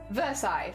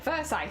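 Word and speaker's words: Versailles: I know I've only lost one bead okay versai versai thank you thank you that is correct appreciated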